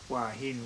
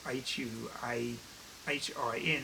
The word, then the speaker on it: Hua Hin: asses there and um i think i'm pretty sure that's how you pronounce i was just practicing that wahine which is hua hin that's the the seaside